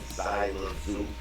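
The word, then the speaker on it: Xelajú: Zina Mayu, and they all both start with an X. It's pronounced Zina Mayu and Zyla Zoo.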